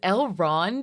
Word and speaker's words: Elrond: was like wait it's elrond and you're right I just feel like they haven't been saying the D I've never seen these